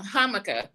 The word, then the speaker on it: jamaica: up it was uh hkah I go I go to hkah which is is Jamaican it's it's spelled Jamaican in English but they say so it's basically habiscus